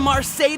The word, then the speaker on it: Marseille: Marseille Marseille not marsai Marseille why didn't somebody tell